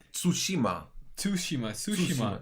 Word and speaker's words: Tsushima: is that he pronounces Tsushima Tsushima Tsushima Sookie come on the CVT is like half silent Tsushima Tsushima soo she